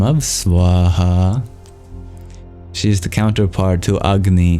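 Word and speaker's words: स्वाहा: And almost all bija mantras are one syllable, but this one is actually two. Swaha.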